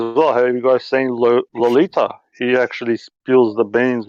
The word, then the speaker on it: Lolita: Loletta. There we go. My bad. Lolita.